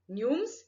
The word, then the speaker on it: gnomes: are queens fairies knights nooms students numes g is silent so this all characteristics